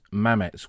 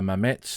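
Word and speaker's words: Mametz: bada M or bada mams as the French call it they use Mame and mams as a pronunciation for the name of the village some accentuate the Zed others ignore it it seems seems to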